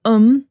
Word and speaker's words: them: We often write it like m, but we don't always say it like m. We say like um put them put them in the oven.